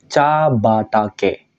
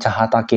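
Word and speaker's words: 茶畑: ketika digabung ya minasang Ca batake bukan cahatake nanti spesial cara bacanya ya Ca batake ketika digabung ha berubah menjadi ba Nah di sini Ca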